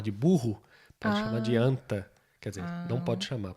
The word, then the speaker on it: 앉다: Anta. Oh, tá parecendo anta.